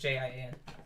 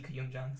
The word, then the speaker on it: Koyumjian: Sometimes it's DJIAN, but mine is just JIAN. Got it. The D is in my middle name now. The D is silent.